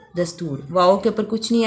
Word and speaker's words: دستور: کے نیچے درج کریں، جیسے دستور، دال زبر سین ساکن، تے پیش واؤ رے دستور، واؤ کے اوپر کچھ